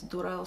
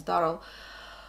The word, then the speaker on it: Durrell: Some people pronounce the name as Durrell, some pronounce as Durrell.